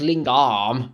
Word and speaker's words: lingam: love and deep respect lingam pronounced lingarm lingarm is the sanskrit word